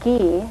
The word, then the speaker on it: ghee: Clarified butter is also called ghee. It's spelled G-H-E-E.